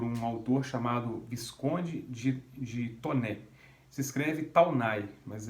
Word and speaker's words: Taunay: foi escrito por um autor chamado esconde de toner se escreve Taunay mas é francês Então se pronuncia